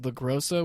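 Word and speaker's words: LaGrosa: Um it's it's pronounced LaGrosso which is easy to remember because she's gross.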